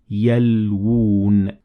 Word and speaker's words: يَلْوُونَ: So there is two wows here. One of them is already written, but the other one we have this sign to tell us that it is there. So you would say يَلْوُونَ.